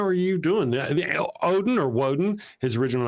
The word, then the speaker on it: Woden: Odin or Woden, his original name. Will wins hands down. Usually I that's how I say it like Wednesday. I Jud sometimes you'll catch me say Woden's day because right because I'm cool that way.